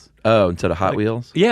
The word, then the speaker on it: Hot Wheels: Hot Wheels. Oh, instead of Hot Wheels. Yeah. The emphasis is on the hot.